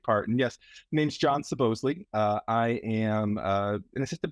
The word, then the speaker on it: Soboslai: second name supposedly is the Hungarian name originally pronounced and when my grandparents emigrated to the U.S they changed the pronunciation to supposedly feeling that it was more American sounding and